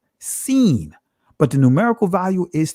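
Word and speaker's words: שׂ: his israeli language right depending on the placement of the dot if it's to the right it'll be pronounced sheen if it's still on the left it'll be pronounced seen but the numerical value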